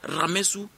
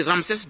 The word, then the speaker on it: Ramsès: Ramsès II est tiré de où sert à Ramessou de eux en fait ils veulent parler de l'arabes mais ils ont pris Ramsès de pour que ce soit plus facile à